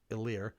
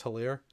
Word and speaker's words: Hilaire: I always thought it was Hilaire. But they said it. You don't pronounce the H with it. So it's Hilaire.